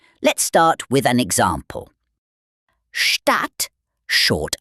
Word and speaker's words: Stadt: A short vowel usually comes before a double consonant, like in Stadt or Hütte.